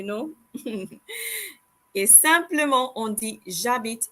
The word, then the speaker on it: j'habite: En français, on ne prononce pas la lettre H. In French, we do not pronounce the letter H. Et alors, we don't say j'habite, okay? That is wrong. We say j'habite. So we pretend like the letter H doesn't exist, you know?